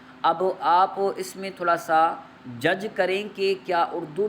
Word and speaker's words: ث: لہجے میں ادا کریں، اردو تلفظ سے پرہیز کریں، یعنی بے، تے، سے، حے، خے، طے، غے وغیرہ ہرگز نہ پڑھیں، بلکہ با، تا، سا، حا، خا، طا، ظا پڑھیں۔ اس مثال کو ہم